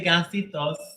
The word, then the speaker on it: gansitos: is it is it offensive if I say gansitos submarinos okay see they said it's not offensive